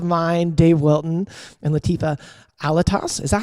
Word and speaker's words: Alattas: dave wilton and latifah alatos is that how you say it like i've never had to ask you that most people never say my last name olatos like albatross and we all